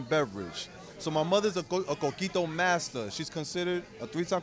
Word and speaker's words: Coquito: going to tell us, Tommy, make sure I pronounce this right, Coquito. Coquito.